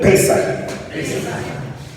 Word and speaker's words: Pesaj: Así se escribe Pesaj. Disculpe mi letra en hebreo. Ok, diga conmigo, Pesaj.